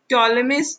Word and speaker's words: Ptolemy: In this, P is silent. Ptolemys is the name of the king, and this is Cleopatra, which is the name of the queen.